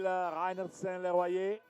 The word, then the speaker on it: Reinertsen-Leroyer: Emil Reinertsen-Leroyer. I'm pronouncing the name in a French way.